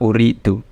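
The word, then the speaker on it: أُرِيدُ: Nah, lihat uridu itu fi'il mudhari', tapi dia tidak diawali apa-apa, jadi dibacanya dhamma, uridu.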